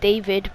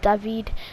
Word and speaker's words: David: jonathan david i know i normally keep on saying david but i realized that his well the pronunciation is actually david and um so yeah